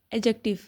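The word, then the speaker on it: adjective: ऐड में डी जो है इसको बोलने की प्रोनाउंसिएशन देखें जरा। इसको हम एडजेक्टिव नहीं बोलेंगे। इसको हम एडजेक्टिव बोलते हैं। इसकी प्रोनाउंसिएशन आपने लास्ट में देखनी है। डी साइलेंट है।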